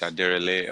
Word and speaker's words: Aderele: My name is Aderele, originally from Nigeria, West Africa, from the Yoruba tribe.